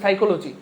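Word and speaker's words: psychology: যেমন সাইকোলজি বানানেও কিন্তু পি আছে, পি এর উচ্চারণ হয় না।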